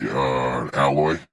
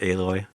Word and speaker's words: Aloy: You play with Alloy. Yeah, Alloy. Eloy. Aloy. Alloy. Like metal alloy. I know, thought. but they pronounce it Aloy.